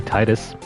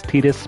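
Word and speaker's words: Tidus: him whatever you want his name is tetus or depending on how you would like to pronounce it it could be Titus the I guess quote unquote accepted pronunciation is tetus but whatever it's up to you and it likely makes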